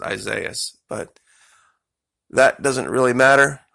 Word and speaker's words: Isaias: They're saying it's pronounced Isaias. I always pronounce it Isaias, but that doesn't really matter.